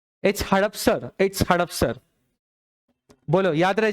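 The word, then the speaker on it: हडपसर: हदसपर मंडी है क्या, हाँ हड़पसर नहीं, इसमें तो HADASPAR आ रहा है, हदसपर करेक्ट प्रोनाउंस कर रहे हैं, हड़पसर है। Please check it ऑन the Google, it's हड़पसर और हदसपर। HADAP है या HADAS है, गूगल पे एक बार चेक करिए। हड़पसर, HADAPSAR, मतलब किताब गलत हो गई, मेल लिखना पड़ेगा आज।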